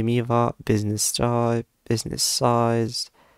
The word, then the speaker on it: Miva: the first page of Mira Eva I mean sorry why I'm pronouncing it Mira I don't know so here we have the solution y miva business style business size